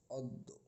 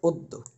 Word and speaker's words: অদ্য: বদ্য আশা করি আপনারা সকলে বিষয়টি বুঝতে পারছেন যে তাহলে কি যদি অ থাকে শব্দের সূরথে এবং এরপরে ব্যঞ্জনের সাথে যদি জফলা থাকে তাহলে অ এর উচ্চারণ ও এর মত হবে।